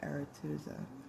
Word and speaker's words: Arethusa: In Greek mythology, because it's spelled Arethusa, but it's said Aretuza, is the name of multiple figures, including a nymph, a lover of Poseidon, and a woman from Ithaca.